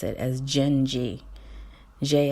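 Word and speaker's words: Dindi: know that you're so pretty you're supposed to pronounce it as gingy ji n - j ee I don't know Portuguese so I didn't know that's how you're supposed to pronounce it so di MDI is pronounced Genji and so let me tell you this song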